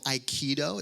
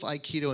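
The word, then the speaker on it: aikido: It's resonant of a martial art called iikido. It's spelled a i k i d o.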